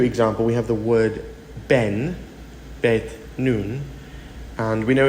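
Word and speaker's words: בן: Now, in a Hebrew example, we have the word ben, Bet, Nun, and we know it is pronounced Ben, which means a son.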